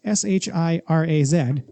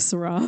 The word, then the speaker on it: Shiraz: Now, Syrah in this case is spelled S-H-I-R-A-Z, which one might think is pronounced Shiraz, but it's not, and only stupid people pronounce it that way. I've always thought it was that. I was just going to say, hi, stupid person. It's Syrah. It's Syrah? It doesn't matter how it's spelled. S-H-I-R-A-Z, S-H-I-R-A-H, anything. It's always just Syrah.